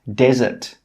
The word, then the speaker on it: desert: This word is pronounced desert. Desert. This word is pronounced dessert. Dessert. With this word, the stress is on the first syllable.